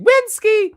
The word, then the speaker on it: Wenski: And signed by seven That's actually Wenski. That's how you say his name. He He prefers it that way for some reason.